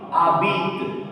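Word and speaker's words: habites: Why abit? Because this word is not made of one syllable. Okay, this word is not made of maximum 3 letters. Ending with a s, so a s will remain silent.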